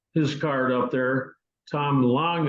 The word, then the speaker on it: Lang: card up there Tom Lang l n g he pronounces it the proper German way he and I were